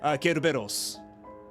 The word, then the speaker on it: Cerberus: I think it's supposed to be closer to the Greek spelling, because I know in Japanese Cerberus is pronounced Kerberos.